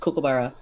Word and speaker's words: kookaburra: And it's pronounced kookaburra.